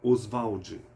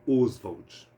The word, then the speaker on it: Oswald: aqui na literatura né a pronúncia do nome Oswald se dava pela tônica a osvald no entanto após a morte do autor tornou-se comum a pronúncia e com ênfase na vogal Inicial Oswald Oswald Andrade foi um